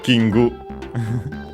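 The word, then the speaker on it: キング: course we have uh kingu which uh uh comes from English king of course let's see its accent accent on the first syllable is expected.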